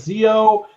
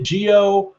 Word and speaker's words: Zi-O: yeah jewel but like people who haven't really looked into the show are pronouncing it zo and everybody who has looked into the show or pronouncing a Geo but in the show they say geo so I don't know